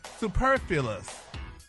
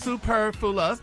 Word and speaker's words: superfluous: word the word for this week y'all is superus superus Superfluous oh Superfluous yes Superfluous yes there you go and it's pronounced super Fus and it's an adjective Ricky and it is